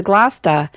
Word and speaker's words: Gloucester: number 15 with the Gloucester. I mean, they kind of have the same, CESTER for the last part of the word, but in one word it's pronounced ta, and the other it's stir.